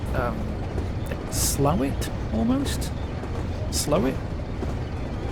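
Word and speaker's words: Slaithwaite: things where it's like you pronounce it the way the locals would pronounce it um which is more like um slow it almost slow it it's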